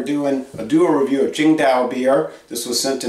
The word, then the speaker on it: Tsingtao: But most Americans call this Tsingtao. But I was at a Chinese restaurant in Kenner, Louisiana, and the lady was from China. She says, pronounced Tsingtao.